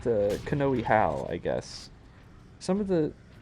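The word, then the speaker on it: Hau: oh the how it's spelled h Au U pronounced how and kohi is is spelled uh k a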